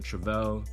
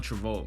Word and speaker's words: Travolta: um denzel was a leading role character also john travell john travolta i'm sorry i said his name wrong john travolt um another legendary actor um